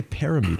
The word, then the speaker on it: Parmenter: Is that how she pronounces it? Parmenter. Yeah, KP. I want to say Parameter or something.